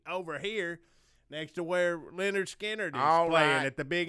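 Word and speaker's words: Lynyrd Skynyrd: skinner come down here tribute band is called pronounced leonard skinner but they spell the name right so that's animal candles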